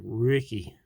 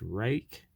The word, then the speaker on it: Ruike: we have the rake I know it looks like Ricky or something like that like it wasn't maybe a Viking cap name or something but nope it's pronounced rake is a chinese-made knife